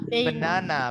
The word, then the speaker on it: banana: Bacanya gini. Bacanya benana.